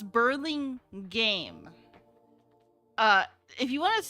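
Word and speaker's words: Burlingame: uh oh that's how the city's name is pronounced I I'm assuming so I don't know actually I just call it Burlingham Burling gam Burling game I don't know but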